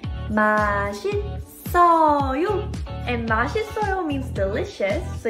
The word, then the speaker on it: 맛있어요: And the rule here is, if there is 받침 like this and the next door has silent syllable 이응, you would actually carry over the 받침 sound to next door. So this S syllable right here will be pronounced here. 마신. And right here, double S will also carry over to next door and say 마신써요.